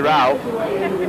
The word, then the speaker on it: Ralph: No, I think what happened, I was landed with a name that used to be pronounced Rafe with that spelling a few generations ago, and now people say Ralph, and I have to catch up, but I haven't.